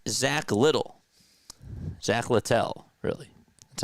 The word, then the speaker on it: Zack Littell: Zack Littell, really. That's how you pronounce it.